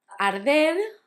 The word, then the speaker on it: arder: Arder had the difficulty of the R's, that's soft, because it's between a vowel and a consonant.